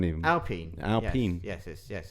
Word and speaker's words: Alpine: You just show me pictures of a of a Kim Sherwood sitting on an Aston line or an Alpine even. Alpine. Alpine. Yes. Yes. Yes. It's pronounced alpine.